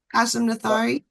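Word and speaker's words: Qasim Nathari: kasum kasum is fine kasum nathari did I say it right you said it perfectly all right I hate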